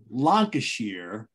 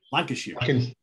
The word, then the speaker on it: Lancashire: Steven Reid from Perth, Scotland, and from Lancashire.